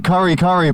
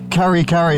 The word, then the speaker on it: Karikari: But here we go, the Karikari Peninsula. Sounds like curry when I say it. Karikari if I say it the English pronunciation.